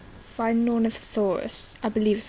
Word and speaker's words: Sinornithosaurus: Things like that really interest me, and things like Sinornithosaurus, I believe is how it's pronounced.